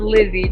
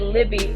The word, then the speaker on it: Lizzie: And I wasn't gonna get you, but a lot of people call me Leslie. It's actually pronounced Lizzie, just so you know. But I get Leslie, and I even get Libby. I'm like, there's no B.